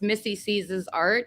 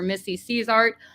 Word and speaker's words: MISSICs: It's Missy Sees Art, or Missy Sees Art, or MISSICs Art, as Ali said that I really liked that though. But it's it's just my name, Missy, and then C, and then Art.